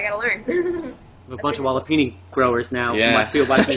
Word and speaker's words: walipini: you go um you can spel the it's it's spelled wall w l l i p i n i walipini all right I'm going to look that up